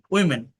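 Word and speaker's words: women: বাট যদি singular হয় অর্থাৎ একটা নারীকে বোঝায় তাহলে ওম্যান। কিন্তু যদি প্লুরাল হয় একই স্পেলিং থাকবে প্রোনাউন্সিয়েশন চেঞ্জ হয়ে যায়। ওমোন ওমোন ওমোন ওকে নারীরা এবার দেখেন প্রতিটা বাংলা বাক্যে ভার্ব কিন্তু লাস্টে থাকে।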